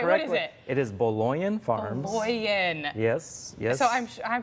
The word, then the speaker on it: Baloian: so yeah we're very excited okay great so bullying am i saying you're close it's been pronounced many ways sweet but no though what is it it is bologna farms yes yes so i'm sure i'm not